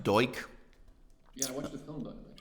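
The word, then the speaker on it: Duch: His name is pronounced Doik.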